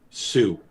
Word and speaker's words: Sioux: Sioux. Just Sioux? It's Sue, like it's pronounced the girl's Sue. name. The X is silent.